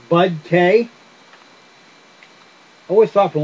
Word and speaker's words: BudK: you every once in a while um it's BUDK I always thought for the longest time I